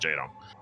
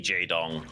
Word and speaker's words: Jaedong: Yeah, Lee Jaydong his name and literally using that as his ID. So, his middle and last names. And I love that Dong rhymes with Wong, by the way.